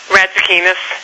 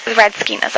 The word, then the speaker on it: Radzikinas: Radzikinas. Radzikinas, okay.